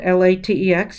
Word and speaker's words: LaTeX: math type uses latex it's spelled l-a-t-e-x but we say latex and it's l a